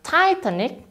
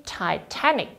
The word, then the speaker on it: Titanic: Bukan Titanic, tapi Titanic. Sama seperti academic, dia berakhiran dengan IC.